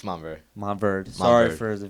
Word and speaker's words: Montverde: It's Montverde.